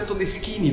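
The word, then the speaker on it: Todeschini: A gente escreve Todestini, só que quando a gente pronuncia, a gente pronuncia todini porque também é italiano.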